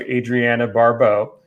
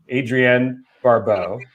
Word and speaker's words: Adrienne Barbeau: movie and uh he actually cast his wife adriana barbeau adrienne barbeau uh i always mispronounced that name uh as the lead character